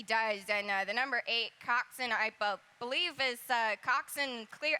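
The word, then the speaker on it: coxswain: and she was a Coxin, which steers the boat. So, uh, Coxin, I was uh, schooled on that pronunciation, many times.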